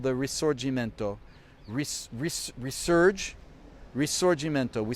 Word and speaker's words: risorgimento: it's a good word remember it's called the resorgimento resurge resorgimento we spell it r-i-s-o-r-g-i-m-e-n-t-o risorgimento r-i-s-o-r-g-i-m-e-n-t-o got it risorgimento well i guess it